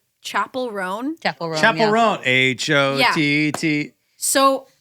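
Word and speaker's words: Chappell Roan: I don't know how to pronounce her name. I feel like Brandon, you probably know how to say her name. Chapel Roan.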